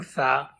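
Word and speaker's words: ث: Make sure when you are pronouncing Tha, you don't whistle.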